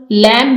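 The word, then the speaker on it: lamb: मिसाल के तौर पर लैम में एंड बाइक द लेटर्स के एंड ई आर not pronounced enum लैम में आप देखें बी को प्रोनाउंस नहीं किया गया ये एम पर इसकी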